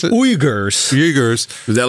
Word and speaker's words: Uyghurs: How do you pronounce it? Uyghurs.